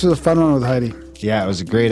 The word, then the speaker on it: Hedy: And I want to tell you, my name is pronounced like the country, Hedy.